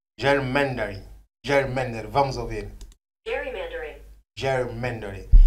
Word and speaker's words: gerrymandering: Fui buscar a pronúncia em inglês, que é gerrymandering.